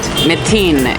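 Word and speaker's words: مئتين: able to read it metin is how you say 200 but I'll teach that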